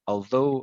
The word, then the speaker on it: although: here these words here although and furlough although although so so it's like though but it's although although all so you bring